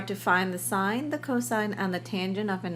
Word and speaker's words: cosine: trigonometric ratio abbreviated as cost again we don't say cost we say cosine even though we spell it as cos that is the shortened form of cosine tangent a tangent is